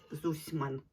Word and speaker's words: Зусьман: в тісті фішель зусма Ну правильно так як дослідники пишуть що зусьман правильно вимовляти ось таке такі тарілки